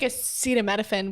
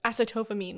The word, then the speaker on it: acetaminophen: everywhere so am i i had to take acetaminophen which fun fact i used to pronounce as acetophamine when i was in college because i have